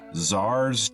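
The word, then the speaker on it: Czar: There was a town that I could have turned to go to called Zars Tower. Zar, spelled with a C.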